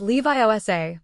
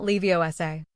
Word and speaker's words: Leviosa: It's Levi OSA. Hermione corrected from the next seat. Not Leiosa. Ron's ears went red.